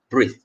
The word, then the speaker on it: breathe: is breath okay breath another word on the right with e at the back we pronounce it as breathe breathe all right breath